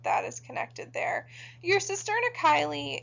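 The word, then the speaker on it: cisterna chyli: this thing called the cisterna kylie which is actually how you pronounce that one so sister and a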